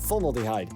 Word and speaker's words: formaldehyde: combination of alcohol and former formal formaldehyde formaldehyde is how you say that formaldehyde originally purchased for 93